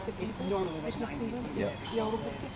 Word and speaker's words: joulupukki: Joulupukki. Joulupukki.